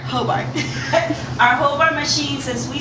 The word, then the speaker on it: Hobart: How do I pronounce it? Hobart. Hobart.